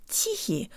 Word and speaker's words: тихий: I'm Kira and today you'll learn how to pronounce the word teehee or quiet let's say the first syllable with